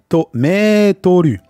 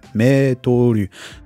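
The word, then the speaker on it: メートル: Hein, c'est le mot français, hein, je pense français, qui a été katakanaïsé, hein, qu'on prononce à la façon japonaise. Hein, Metoru.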